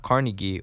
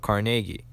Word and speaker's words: Carnegie: Not Carnegie or Carnegie, but Carnegie.